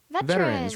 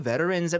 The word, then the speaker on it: veteran: We refer to them as Veterans. right? Veterans하고 veterans 발음이 살짝 좀 다른데, but still both very acceptable, I think, right?